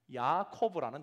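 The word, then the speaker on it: יעקב: 특별히 23절과 24절을 보면 세 단어가 히브리 단어의 발음상 유사성을 가지고 있는 단어라는 것을 우리가 확인합니다. 특별히 먼저 야곱이라는 히브리어 단어가요, 야코브라는 단어입니다.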